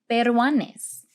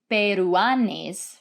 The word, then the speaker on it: peruanes: language you could say berwanes so if you look here you can see there is a u and an a together but they are not pronounced as two separate syllables we're not saying peruanes right rather they form